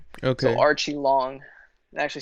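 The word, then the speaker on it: Aori Qileng: cool dude a great journalist his name is pronounced archie long he said okay yeah yeah so uh he has no last name i guess in china it's just like one long name okay so archie long it actually sounds kind of american though yeah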